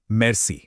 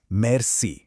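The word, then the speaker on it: merci: मेर्स। इसका प्रोनाउंसिएशन है मेर्स।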